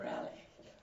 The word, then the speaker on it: Reale: It's the last letter is a E. An E and not an I. Reale.